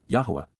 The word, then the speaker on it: Yahowah: Because indeed, KY, for the express reason, on behalf of La, during the approach of Yahuwah, Yahuwah, the proper pronunciation of the name of Eloah, God as